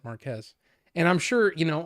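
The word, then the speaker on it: Marques: way really well yeah the computer was saying Marcus but that was a man that said it looks like Mar like it would be Marcus but he pronounces it Marquez and I'm sure you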